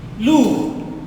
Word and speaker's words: lourd: Lourd, D is silent, lourd.